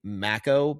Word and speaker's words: mako: They kept saying macco because that's how they say it. uh over in New Zealand. That just was driving me crazy as a a selfish American who's used to calling them Makos.